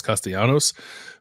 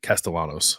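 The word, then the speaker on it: Castellanos: Thomas castanos being or I think actually castalanos that's not the the uh what's I don't know what you call that that Double L pronunciation but uh but I like to say it it's more fun to say castanos um he leads the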